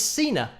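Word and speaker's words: Sina: And that is Cena, which is rhyming with Gina, Cena, Gina.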